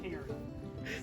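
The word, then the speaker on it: cairns: Rhymes with Karen. Wow. Oh, yes. Karen.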